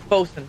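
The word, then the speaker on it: boatswain: but pronounced B O S U N.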